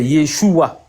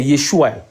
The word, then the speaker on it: Yeshua: Donc c'est un a qui est à la fin parce que la lettre finale c'est un a, c'est pas un he qui est un son avalé ou un son muet qui correspond à un h dans notre langue française. Non, là-bas c'est un a qui est équivalent de a mais un a avec un i trema dessus comme aï.